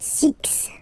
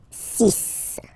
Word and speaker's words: six: be careful here because even if it's ending with this x well you'll have to pronounce it like s okay so you get the sis pronunciation sis sis okay so it's not six it's sis all right then here